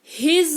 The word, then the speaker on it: his: रहे हैं, तो आपको हिज वर्ड का यूज करना है। किसका यूज करना है? HIS, हिज। देखो एस लिखते हैं लेकिन उच्चारण इसका ज होता है। ठीक है, तो हिज इसको पढ़ेंगे।